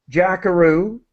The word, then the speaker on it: jackaroo: Australian word so jackaroo jackaroo is the name that's the pronunciation it's similar to Kangaroo the animal that is one of